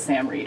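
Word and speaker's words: Sam Reid: It is Sam Reed.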